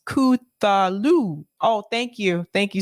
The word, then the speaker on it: Cthulhu: Bad Cookie said it's pronounced Cthulhu.